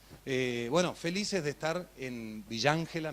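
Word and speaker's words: Villa Ángela: Bueno, felices de estar en Villángela, me dijeron decir Villángela, así se pronuncia, claro.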